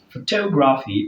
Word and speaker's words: photography: So as regard PHY, we have words like photography. Take note of the stress placement. Photography. So the word photography is stressed third syllable from the end of the word on the word toe.